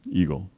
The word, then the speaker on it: Egil: It's a Norwegian name, but everybody pronounces it Eagle, so we just give it in, Eagle.